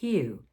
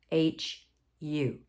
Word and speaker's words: HU: And the mantra I'm going to tell you today is HU, H-U. And it's pronounced HU.